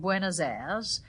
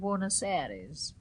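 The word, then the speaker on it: Buenos Aires: He had a lot of stocks and shares and half a street in Buenazair but this pronunciation varies. Some people call it wiseries.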